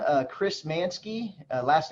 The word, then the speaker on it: Manske: if you just Google my name uh Chris mansky last name is spelled m ansk ke you'll see Chris manky